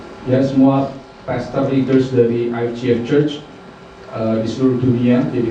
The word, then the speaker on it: IFGF: Kalau orang Indonesia bilangnya IFGF. Kalau kita yang benar pronunciasinya IFGF ya. Jadi kalau saudara ketemu dari saudara semua dari IFGF lain jangan salah pronunciasinya gitu.